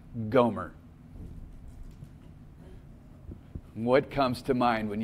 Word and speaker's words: Gomer: wife and now her name means completed it's pronounced Goomer what comes to mind when you hear the name Gomer say her name's Gomer and she is a